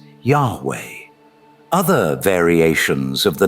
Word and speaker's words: Yahweh: As it's translated into YHW, which properly pronouncing his name as Yah-oh or Yay-oh, which is literally the god the Israelites worshipped later being pronounced as Yahweh.